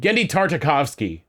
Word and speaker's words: Tartakovsky: more / canonize the Genndy how do you pronounce his last name? Genndy Tartakovsky.